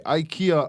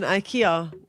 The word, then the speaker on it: IKEA: on the radio solidly we have been saying IKEA wrong Oh God right is it it's pronounced IKEA IKEA IKEA here ikea swedish yes so yeah that